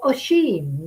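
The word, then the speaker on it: Oisín: So Oisin, Lily tells me it's pronounced.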